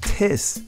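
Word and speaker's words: τις: definition of the word art says and it's pronounced tis it means a kind of any in other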